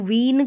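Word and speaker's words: vein: सकते हैं जैसे कि वेन है तो इसको वीन करके नहीं पढ़ेंगे कि ई आई है इसको ई आई को ई भी पढ़ा जाता है तो यहां पर इसको वेन पढ़ेंगे वेन यानी कि नस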